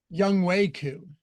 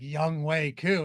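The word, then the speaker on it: Younghoe Koo: Young Wei Koo.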